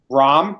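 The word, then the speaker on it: Jon Rahm: Rahm, that's how you pronounce it?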